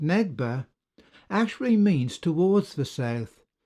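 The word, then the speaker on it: נגבה: The first occurrence of the word south in this first verse, and which is pronounced Negba, actually means towards the south, Negev being the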